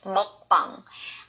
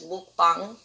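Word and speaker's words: 먹방: The next word is mukbang. I was actually surprised that this word has gotten so popular, but why are you guys pronouncing it as mukbang? What is muk? It's not mukbang, it's mukbang.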